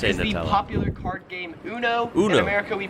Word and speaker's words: uno: Yeah, Uno makes sense. That's how it's supposed to be pronounced. No offense on this one. it is uno because it's a Spanish word. It's not even an English word.